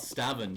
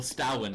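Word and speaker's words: stavn: I mean, what about Stavin? He's amazing. Yeah, exactly. Or Stawin, actually, as it's pronounced, because it's a V and he's Danish, so they pronounced it like a W.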